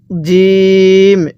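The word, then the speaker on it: جيم: এরকম ভাবে শিখবো এরপরে জিম জিমটা আমরা শক্তভাবে উচ্চারণ করব যদি এই জিমটাকে নরম ভাবে পড়ি তাহলে পড়াটা সহি শুদ্ধ হবে না কিভাবে পড়তে হবে জিম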